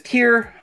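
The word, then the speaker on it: Tyr: Next is Tear, and I guess it's pronounced tear, like a teardrop, like a Johnny Depp teardrop.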